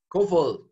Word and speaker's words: Kofoed: Yes, Yeah, Kofoed. man. Do you say it Kofoed? Kofoed. It's Danish, right? It's Danish. It's pretty hard to pronounce.